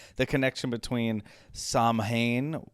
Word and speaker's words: Samhain: like the connection between samhain saw wayne because it's irish so the words or the letters mean nothing in terms of how you pronounce it just ask my friend siobhan sowwain uh is a is